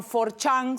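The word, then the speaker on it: 4chan: conocidos los más comunes se llaman for Chan se escribe cuatro Chan o e Chan que se escribe ocho Chan donde se reúne gente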